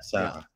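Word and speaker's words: ሰዓት: There's a T in it, but it's silent for us. Okay. We pronounce the T. But okay. There you go. So we use it for watch. If it becomes possessive, we pronounce it.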